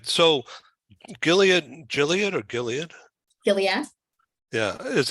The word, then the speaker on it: Gilead: So just like you are in your job, but let's just say that Gilead, Gilead or Gilead? Gilead. Yeah. Oh, Gilead. Okay. Hard G.